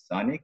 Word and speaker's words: Czanik: His name is Czanik. Is that the correct pronunciation? Yes, that's correct.